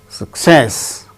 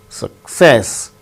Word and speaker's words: success: be uttered as teacher success with stress on second syllable success recommend third syllable gain